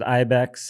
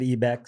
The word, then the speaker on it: IBEX: Excited to be here with Alvaro today from IBEX, or I guess he told me that if you're white, you pronounce it IBEX. If you're Latin, you pronounce it IBEX.